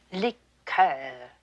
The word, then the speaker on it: liqueur: don't care for liquor when referring to a cordial we use the french pronunciation liqueur miss tinsley i shouldn't